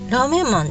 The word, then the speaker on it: 拉麺男: これはラーメンマンと読むのかラーメン男なのか。ラーメンマンでいいみたいだよ。